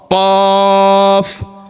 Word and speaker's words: قاف: তালু এটা হচ্ছে তালু জিহ্বার গোড়া তার বরাবর উপরে তালুর সঙ্গে লাগাইয়া একটি হরফ উচ্চারিত হয় কফ কফ কফ একটু ভিন্ন ভাবে قا قا قاف قاف قاف قاف قاف